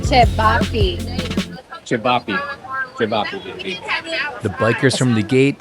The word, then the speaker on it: ćevapi: some Bosnian food I finally learned how to pronounce ćevapi ćevapi the bikers from the gate gave me a